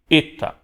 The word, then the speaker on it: eta: Na pronúncia erasmiana costuma se pronunciar e, eta.